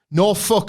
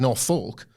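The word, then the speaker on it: Norfolk: No I'm just naming the place in the way that they would like it to be pronounced if we said north folk we would be disrespecting the people be like a je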